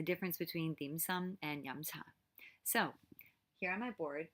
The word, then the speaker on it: yum cha: of fried foods so if you want to say it correctly in cantonese with intonation it's so it's that mid-rising theme and then some so yamcha and so what's the